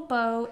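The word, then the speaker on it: Beaux: Yeah, so our dog, Beau, and it's spelled B-E-A-U-X.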